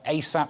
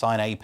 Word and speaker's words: A$AP: This is rapper A$AP Rocky, and you can tell I'm clearly aware of the work, given that I had to ask if you pronounce it $AP. You don't.